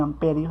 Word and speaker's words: ampere: eléctrica se mide en amperios, se escribe ampere, pero se lee amperio, simbología, la letra A mayúscula.